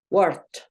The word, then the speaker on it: worked: En algunos verbos va a sonar como una T. ¿Listo? Worked, como una T.